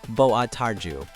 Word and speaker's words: Boa tarde: Boa tarde. Pronounced boa tarju.